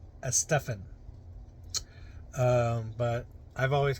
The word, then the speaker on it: Estefan: Uh I remember listening to Casey Kasem and he said it is actually pronounced Estefan. Um but I've always called it Gloria Estefan.